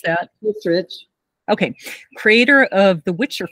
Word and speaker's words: Hissrich: How do you pronounce that? Hissrich.